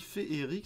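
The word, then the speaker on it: féerique: En fait, on dit Féeric, ça s'écrit d'ailleurs comme ça depuis l'orthographe réformée pour que la graphie reflète la prononciation.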